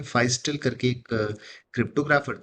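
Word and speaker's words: Feistel: ना यूज करें और इसे फियस्टल फाइसल मतलब उसका उच्चारण है। फाइस्टल करके एक क्रिप्टोग्राफर थे।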